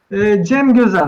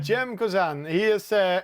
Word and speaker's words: Cem Gözen: Simgusen is how do I pronounce that? Cem Gözen. Yeah, Cem Gözen.